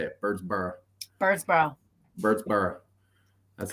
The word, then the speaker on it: Birdsboro: Born and raised in Birdsboro, and it's Birdsboro, just so you know. That's how you say it. Birdsboro.